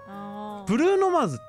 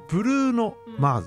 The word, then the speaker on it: Bruno Mars: けな今日ブルーノマーズとすぎ発音しづらいんだよ bruno mars ブルーノマズって正しくはブルーノマーズでしょでも 0 年彰ティェンタオ